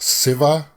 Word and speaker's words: Shiva: Okay, we would pronounce that Shiva, but it's you guys pronounce it, or at least I've heard it pronounced Siva instead of there's no sh sound.